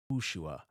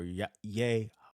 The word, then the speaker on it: Yehoshua: The emphasis would be on the shu part, and it would be Yehushua or Yehoshua.